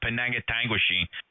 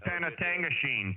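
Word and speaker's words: Penetanguishene: friends chiming in here to help this Yankee pronounce those town names up in Ontario, Penangatanguishene. All right. 73, Kevin. Thanks a lot. Okay, hey, Jeff, it's Panatangashene.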